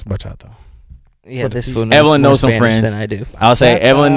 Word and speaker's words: bachata: If I'm pronouncing it right. I don't even know it. It's bachata.